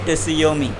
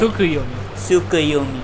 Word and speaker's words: Tsukuyomi: Alright, and then Infinite Tsuyomi, the thing that Tsukuyomi, thank you for the pronunciation correction.